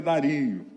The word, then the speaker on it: Dario: expressar isso presta atenção algumas pessoas falam mas a pronúncia certa é Dario em Daniel Capítulo 6